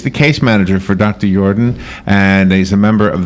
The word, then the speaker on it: Yordan: Yordan's name correctly, or is it Yordan? No, it's Dr. Yordan. You're pronouncing it perfectly correct, yes.